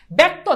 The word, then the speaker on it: ব্যক্ত: ব্যক্ত দেখো জফলার সাথে আকার নাই, কিন্তু এই যে উচ্চারণে জফলার সাথে আকার আসে।